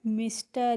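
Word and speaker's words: Mr: अब है word एम आर, एम आर को हम पढ़ते हैं मिस्टर।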